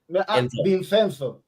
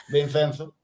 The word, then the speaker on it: Vincenzo: Vincenso, Vincenso, Vincenzo. Dos viernes así. Ah, dos viernes. Vincenzo. Ah, Vincenzo. No, Vincenzo.